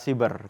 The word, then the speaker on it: siber: pertama di Indonesia nih penggunaan Katanya sih berapa cyber yang tebal benar-benar kalau menurut ejaan bahasa Indonesia yang benar adalah cyber karena kalau kita bilang saya beri itu ejaan